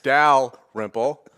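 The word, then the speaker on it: Dalrymple: to get it right somebody who's calling me out for not pronouncing the l and my last name it's dal ripple here alongside my co-host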